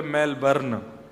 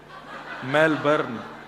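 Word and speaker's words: Melbourne: हमारे एक भैया बोले मेलबर्न, जो मैल को जला दे, मेलबर्न। मैंने कहा नहीं, मेलबर्न, र जो है वो साइलेंट बोलो।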